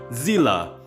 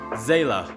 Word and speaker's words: Seele: If you play on English, the pronunciation will be Zila or Zela, or whatever you want to call her. But for me personally, in Japanese, I rather call her Seele because I play Honkai in back third.